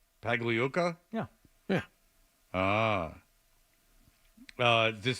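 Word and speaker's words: Pagliuca: at work you've uh Steve pag leuka you've said his name no less than 14 times this morning not once correctly put some respect on his name yeah Fred how do you say his name paga pag Luka yeah yeah ah uh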